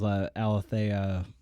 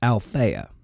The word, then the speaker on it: Althea: last name, but I believe her name was Alethea. Oh, yes, Gibson. And I should say, it's Althea Gibson. I pronounced it wrong in the initial recording.